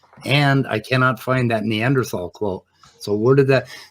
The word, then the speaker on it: Neanderthal: it fall yeah so if you're doing a german it would be neanderthal but spelled with a th um but it doesn't